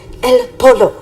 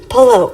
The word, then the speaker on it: pollo: just chicken in spanish it's just el pollo like stop sing polo on purpose like girlfriend you know